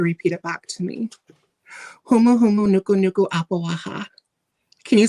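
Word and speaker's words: humuhumunukunukuāpuaʻa: Humu humu nuku nuku apawaha.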